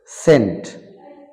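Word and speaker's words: scent: সাইলেন্ট থেকে যাবে যেমন বেখর মানে সংকেত সি সাইলেন্ট থেকে যাবে সেন্ট মানে হচ্ছে সুগন্ধি সিন মানে দৃশ্য সাইন্স মানে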